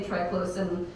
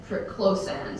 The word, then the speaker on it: triclosan: also home that I pronounce this chemical incorrectly there's just is written into my brain this way so there's no way I'm going to correct my pronunciation I say triclosan doctor says triclosan so he he he emphasizes its into per syllable than I do anyways this this is